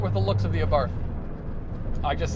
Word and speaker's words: Abarth: 500 abart and yes it is pronounced abart the h is silent i've always had a